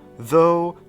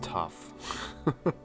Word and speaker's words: though: Ich glaube, hier ist es tough. Nee, es ist though. Tough schreibt sich anders. Ohne H, also ohne dieses H, also though.